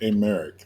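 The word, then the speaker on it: Aymeric: over for I don't even know how to pronounce his name please let this be the guy okay a Merrick there we go that's his name I just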